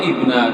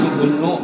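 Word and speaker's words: ابنَ: Nah Abbas itu kan bahannya nasab, ya Abbas itu bahannya nasab, lalu ibna itu badal kepada mahal. Ini baca ibna, jangan ya Abbas ibnu, jangan salah bacanya.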